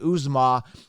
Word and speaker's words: Uzomah: Now, if I were to spell Uzomah, I would spell it Youzama or Zama, right? Youzama, Uzomah. That's what they're pronouncing it, but it's actually Uzomah, Uzomah, right?